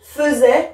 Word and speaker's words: faisait: T et attention je vois haïr mais je prononce e il faisait la vaisselle hier je un dessin lorsque tu